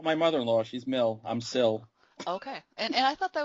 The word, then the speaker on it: SIL: And that apparently is pronounced Sill.